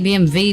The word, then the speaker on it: BMW: But the guys who are sitting sideways covering half the track BMV, it's only BMV because um BM because um Germans pronounce W as V. It's not actually spelled with a V. It's W.